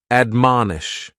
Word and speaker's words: admonish: is to admonish and admonish has three syllables and the stress is on that second syllable man admonish and this is a